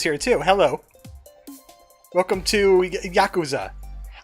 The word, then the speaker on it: Yakuza: Welcome to Yakuza. I learned how to pronounce that correctly. I kept on saying Yakuza. Yakuza. The K is sharp.